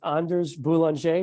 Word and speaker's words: Anders Boulanger: you just joining us my guest today is Anders boulanger did I say that correctly you did yeah